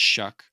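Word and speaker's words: Shough: I think the worst is Tyler Shuck. I think it's how you pronounce his last name, even though it's spelt Show. Oh, they're saying it's Shuck.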